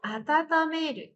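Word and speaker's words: 温める: Contoh kalimatnya ada supu o atatameru. Supu o atatameru. Atatameru. Menghangatkan. Dibacanya atata. Atata. Ya, karena ketemu hiragana.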